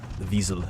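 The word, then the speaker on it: Wiesel: I was saying it wrong to begin with. I think it's visas or something like that. He's pedic. Yeah, Visel. It's uh German, I believe. like w i e s e l.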